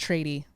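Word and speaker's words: tradie: Sorry, I feel like it's pronounced trady. Like trade.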